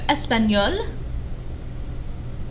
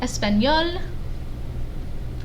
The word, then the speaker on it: espagnol: So we've got Espagnol, Espagnol, and it's pronounced the same. These are both pronounced the same in masculine and feminine.